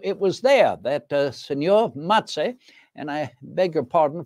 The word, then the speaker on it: Mazzei: So it was there that Signor Mazzei, and I beg your pardon for my pronunciation of his name, I even write it in my memorandum books and account books, M-A-T-S-A-Y, Signor Mazzei.